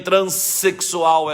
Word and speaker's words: transexual: som de z e em transexual é som de s essa tem explicação porque trans tenho essa no final se a palavra seguinte